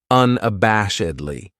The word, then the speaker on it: unabashedly: This adverb has five syllables and the stress is on that third syllable that bash unabashedly. That second syllable has that schwa that uh sound unabashedly.